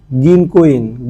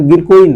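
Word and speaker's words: 銀行員: এখানেও দেখেন একটা ও আছে। এই যে মাঝখানে একটা ও আছে। এই ওটা হচ্ছে আগের ক আছে। এই কোটা টেনে পড়তে হবে। আবার তার মানে অর্থটা দ্বারা এরকম গিনকইন গিনকইন হ্যা এখানে গিরকুইন না গিনকইন গিনকইন মানে হচ্ছে ব্যাংকের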